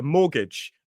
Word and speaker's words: mortgage: I mean, and that's one of our key pieces of vocabulary, a mortgage. And notice the T is silent in mortgage.